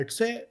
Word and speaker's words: Etsy: अभी ऐसा सीन है कि अगर आप बोले कि एटसी, तो बोलते अब लोग उसको गलत प्रोनाउंस करते हैं, एटसे, एटसी इस तरह कुछ करके, उनको पता नहीं है बेसिकली।